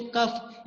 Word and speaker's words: cough: ROUGH रफ, वहां पे भी फा ही बोलते हैं. COUGH को कफ, यानी यू के बाद जब GH आए it would be pronounced as फा.